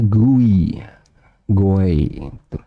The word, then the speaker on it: GUI: adalah Grafika user interface tulisannya guiyang6d bacanya guy guy Nah sekarang kita akan